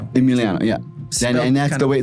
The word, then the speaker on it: Eemeleeano: Emmeliano. Emiliano. Yeah. And that's the way the way it's spelled it's spelled a little bit differently like